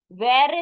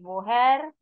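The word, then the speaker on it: woher: why one means when where is wo and where from is Ware it is not W her it is Ware and who is where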